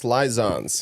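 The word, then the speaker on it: Laizāns: Daniel's Lizans. Here you go. That's the Latvian pronunciation. That's how you say Lizans.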